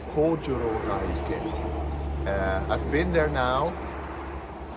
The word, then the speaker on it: Kojoro Gaike: And the goal for today is the elusive Kojoro Gaike, or how it's actually pronounced, Kojoro Gaike.